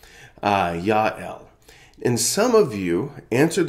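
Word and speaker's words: Jael: woman named JL j-a-e-l in Hebrew her name would probably be pronounced something like Yael Yael and some of you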